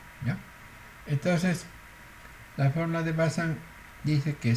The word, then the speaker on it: Bazin: La fórmula de Bazin, por ejemplo, se escribe Bazin, pero es Bazin, como es un francés.